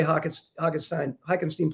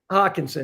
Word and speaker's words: Hockenson: I love the way Hockenstein plays. Mm-hmm. Am I pronouncing that right? Yeah, I think it's Hockenson, excuse me.